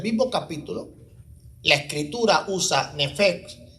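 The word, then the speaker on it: נפש: Esta palabra, ¿verdad?, Nefeg, que es como se pronuncia, es algo entre la P y la F, es diferente a la usada en el mismo capítulo, en el verso 29.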